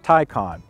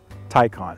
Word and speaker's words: Taycan: it now it's pronounced tycon think of tai you wear a tie or there's a tie in sports and think of star trek two i believe wrath of khan khan taikon there you go that'll